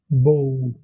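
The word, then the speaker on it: bó: Le O long est prononcé comme le O anglais, comme dans le mot only. Par exemple, pour dire vache en irlandais, vous pouvez dire bow.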